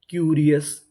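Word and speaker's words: curious: CU, यहाँ पे CU को पढ़ेंगे Q, RI री, OUS अस, क्यूरियस, क्यूरियस, क्यूरियस का मतलब होता है उत्सुक।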